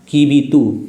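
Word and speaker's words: Kibithu: और ऐसे east most point की बात करेंगे तो ईस्ट मोस्ट पॉइंट कौन सा हो गया आपका, कीबीतू, क्या हो गया, कीबीतू।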